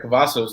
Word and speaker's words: Cavazos: So, and as everybody knows, each week we have a special guest on, and Cavazos. Am I saying it right? Yeah, Cavazos.